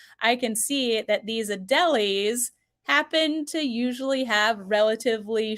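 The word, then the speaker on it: Adélie: Adelis up here yeah it's pronounced Adelis like going to a deli to get a sandwich um so if I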